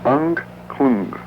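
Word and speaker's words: Angklung: It's hard to pronounce. It's a tongue twister. It's Anklung.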